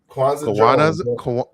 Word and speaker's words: Kwanza: Kwanzaa Kwanzaa, like the holiday, Kwanzaa.